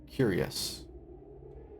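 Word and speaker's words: cuirass: Oh, it's pronounced curious.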